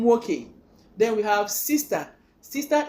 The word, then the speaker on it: nwoke: Brother is pronounced one name nwoke, one name nwoke.